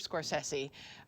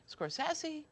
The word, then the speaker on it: Scorsese: What is the right way to pronounce Mr. Scorsese? Scorsese? Scorsese, I think. Okay. Because I've heard you say Scorsese, but I can see how